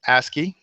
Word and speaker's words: ASCII: Code for information interchange that's pronounced a ski that acronym and let's